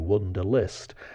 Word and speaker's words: Wunderlist: Wonder spelt with a U, Wunderlist.